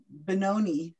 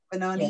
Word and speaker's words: Benoni: Hey, just on the off chance, I looked up Benoni. Is that, am I saying it right? On Wikipedia. Benoni.